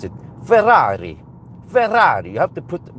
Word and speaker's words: Ferrari: they they pronounce it Ferrari. Ferrari. You have to put because it's double Rs. You have to emphasize the double Rs. Do we have any Italians here? It's supposed to be Ferrari.